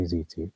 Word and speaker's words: tzitzit: I notice a lot of Jews in my area say zitzit, but tzitzit, I say zitzit. I think that's the proper way to pronounce it.